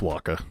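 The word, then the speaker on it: Wakka: but I have not it's Waka okay like the Shakira song like waka waka waka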